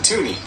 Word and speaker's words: toonie: we thought we would call it a toonie because it's worth two dollars and it rhymes with looney slaying for one dollar